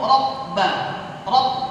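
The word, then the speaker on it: رَبّ: Banyak nih orang salah ya ketika mengucapkan huruf ba bertasydid. Kenapa? Karena dia mencampurkan ya dalam pengucapan huruf ba bertasydid tersebut dengan huruf apa? Huruf P.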